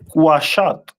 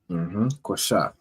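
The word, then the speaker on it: קשת: The symbol of Gad is a bow, which is pronounced in Hebrew as Quashat. Quashat.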